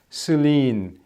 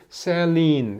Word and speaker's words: Céline: 그렇다고 해서 이거는 영어 액센트처럼 세게 읽으라는 것이 아니고 이거는 이를 A로 읽는다면 원래 발음대로 이거는 슬린 이렇게 되는데 이거는 셀린 이렇게 발음을 하라 이 말이죠.